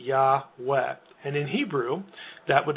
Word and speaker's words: Yahweh: And that is the only way that you can sort of account for an A vowel in the first syllable. It has to be Yahweh.